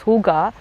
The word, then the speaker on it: Hooga: to the Indian context so the word is pronounced as Huga and I've AB abbreviated